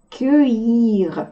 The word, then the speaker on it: cueillir: И следующее слово тоже читается со звуком «э», хотя не должно, а читается «кёй». Сейчас мы его разберем.